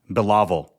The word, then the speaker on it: Bilawal: My name is pronounced Bilawal. Absolutely. To help people pronounce your name correctly, you can break it down like this. Billa as in Bill-a and wall as in wall. So it's Bilawal. No, that's wrong.